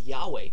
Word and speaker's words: Yahweh: because that the pronunciation, the true pronunciation of Yud He Vav He has been lost. The best we can come up with is Yahweh. We know for sure the first syllable is Yah because it's in the Psalms. But the last syllable we're not totally sure of. But a safe guess, a safe bet is Yahweh.